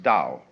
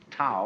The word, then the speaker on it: Tao: We should have spelled it d o w you see but it's t ao.